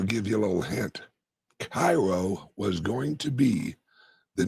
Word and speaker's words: Cairo: And anyone curious why I am drinking out of a Caro, Illinois, or as I pronounce it, Cairo, Illinois mug.